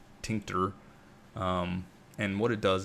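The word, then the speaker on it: Tkinter: know how it's pronounced it's TK inter like tinter um and what it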